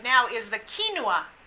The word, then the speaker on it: quinoa: say in in fad right now is the quinoa how many of you all have heard of quinoa so we have some hands good for you I actually have given you a little recipe there for quinoa it can actually be used almost like a